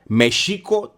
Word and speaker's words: Mexico: The capital city for the Mexica was Mexico Tenochtitlan. And when you look at how it's spelled Mexico. But the X's are an SH sound, right?